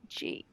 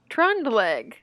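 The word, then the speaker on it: Trøndelag: It's spelled Trondelag. I'm gonna guess it's Trondelag. Trondelag. That sounds right, right? Trondelag. Trondelag is how you say it, I believe.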